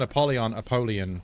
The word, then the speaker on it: Apollyon: We're going to start calling Apollyon, because that's how it's supposed to be pronounced.